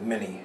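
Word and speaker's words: Minié: Captain named Monet and Americans just pronounced it mini and that's how we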